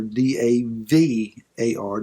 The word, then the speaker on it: davar: especially for the bar d-a-b-a-r or d-a-v-a-r depending upon the hebrew pronunciation so this word davar